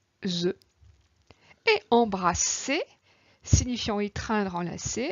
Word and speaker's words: embrasser: se prononce ZE et embrasser signifiant étreindre, enlacer avec ces deux S se prononçant SE.